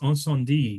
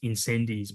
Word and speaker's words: Incendies: on on my curbside collections page in it's pronounced onand d which is the Denny vilner movie you might read it as incendies but it's mate it's to get that on